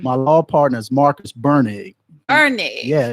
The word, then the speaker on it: Bernig: My law partner is Marcus Bernig. Bernig. Yeah. It's a German pronunciation. Okay. So Bernig. No R. Yeah, no R in it.